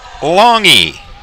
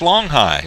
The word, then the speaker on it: Longhi: Now, Nick's last name is spelled Longhi. So, to your normal viewing of that spelling, you would immediately say, well, that's Longhigh. But it's not. It's Longhe, capital E, capital E is the phonetic way to spell it, as Longhe takes a strike.